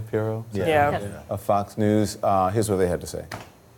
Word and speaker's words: Pirro: Is that how I say her name, Pirro?